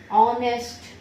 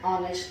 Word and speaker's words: honest: Kulkarni is an honest man. An honest man. So these were the two exceptions, and it is not very difficult to remember this. Just remember, when the sound of alphabet H is silent and the second alphabet